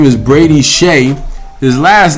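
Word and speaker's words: Skjei: His name is Brady Shea. His last name is spelled like SKJCSFXVC. Exclamation point. But it's pronounced Shea.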